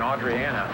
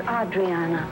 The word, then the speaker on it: Adriana: you're worse liar than Audriana let's go it's Adriana and I'm really getting tired of people mispronouncing her name Ada Spencer please John